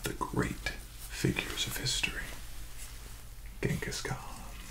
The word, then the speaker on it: Genghis Khan: Another one of the great figures of history, Genghis Khan. So we pronounce it with a hard G, but I believe in the native tongue was pronounced a little bit differently. Genghis Khan, perhaps.